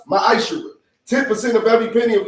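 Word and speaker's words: מַעֲשֵׂר: Means tenth in Hebrew, and it's pronounced ma'ashara.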